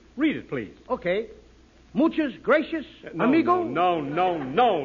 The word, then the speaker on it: gracias: it please okay muchas gracias amigo no no no not gracious that word is gracias you see in Spanish the C is pronounced th graffia you see th